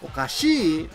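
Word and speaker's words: おかしい: of snack is okashi okay now okashi means kind of crazy right you know the pronunciation difference what's this okashi this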